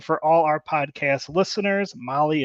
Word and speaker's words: Mahle: And for all our podcast listeners, Molly is spelt Mahle.